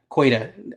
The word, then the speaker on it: Queta: Um, I think it's Queta is how you say his name. I'm just gonna look up so I can see his name. Yeah, Queta, Nemius, Queta.